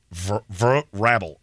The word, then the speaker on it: Vrabel: Vrabel. I just put it up on the screen. That's how it's spelled. You want me to say it another way? It's a hard another A. way. Hard A.